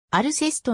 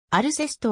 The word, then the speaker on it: Alcest: 川島によればこのスペリングで行松野 st を発音しないのはフランス語でも稀であると言うアルセストのサウンドはネージュ